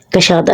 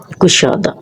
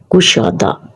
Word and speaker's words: کشادہ: کشادہ لفظ نہیں ہوتا، یہ لفظ ہوتا ہے کشادہ. کشادہ کا معنی ہوتا ہے وسیع، عریض، کھلا. کاف کے اوپر پیش آئے گا. کشادہ کہنا غلط ہے. جب بھی ہم اس کو بولیں گے تو ہم بولیں گے کشادہ.